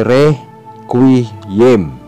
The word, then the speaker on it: requiem: Ito ay binibigkas tulad ng salitang question. Halimbawa, requiem. Ito ay requiem.